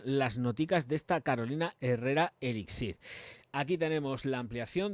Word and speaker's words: Herrera: La nueva Good Girl de Carolina Herrera, que no Herrera o la mierda esta que dicen así en plan americano, es Carolina Herrera de toda la vida.